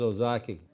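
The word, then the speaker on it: Ozaukee: one and show you Jeff how do I pronounce this one this is Ozaki Ozaki boom there's Ozaki right there and then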